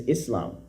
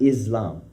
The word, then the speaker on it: Islam: So the word Islam, the correct pronunciation is Islam, not Islam.